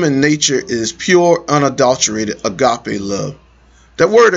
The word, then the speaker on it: agape: God's kingdom and nature is pure, unadulterated, agape love. That word agape is a Greek word that means unconditional. Or some people pronounce it agape.